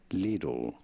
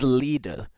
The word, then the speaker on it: Lidl: In English, it is normally said I simply little little. in German. Lidle. Leelle. Which pronunciation do you think is more suited, more correct? Okay, so it really is Lidle.